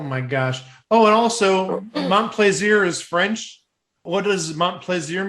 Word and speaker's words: Montplaisir: 3 separate tiebreaker clues had to be played before Chris Montplaisir's. Oh, that's a difficult name to pronounce. Montplaisir.